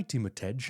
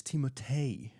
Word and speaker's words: Timotej: So I would go to America and somebody would say, oh, so hi Timotej, and I'll go, actually it's Timotei. Timotei.